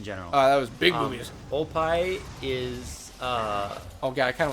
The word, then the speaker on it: oppai: Oppa! Everyone says Oppa in the internet's Oppai. It's Oppai. Yeah. Oppai. Well, if you actually pronounce it correctly, it's Oppai.